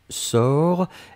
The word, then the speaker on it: sors: première personne du présent c'est je sors s o r s on ne prononce pas le s p on doit quand même l'écrire futur simple de l'indicatif